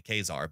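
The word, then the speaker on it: Ka-Zar: yeah so how do you pronounce Kazar it's Kazar I call it Kazar right and will go you're wrong it's technically kesar but it's it's taken me a year and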